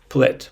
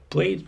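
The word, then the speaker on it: plait: in in British English it's plat plat not plate but plat I don't remember the word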